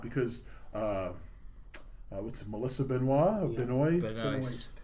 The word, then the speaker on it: Benoist: Is that how they pronounce it? Benoist. Is it because is she American? Yeah. Because over here I think she'd be Benoit. It would right? be Benoit, but over in the States it's Benoist.